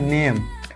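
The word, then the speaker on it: name: मो, ये हो जाएगा नेम, और ई का कोई उच्चारण नहीं होता है तो इसीलिए ई का हिंदी नहीं यहाँ पे लिखेंगे, ठीक है, नेमे नहीं कर देंगे, ठीक है, या नाम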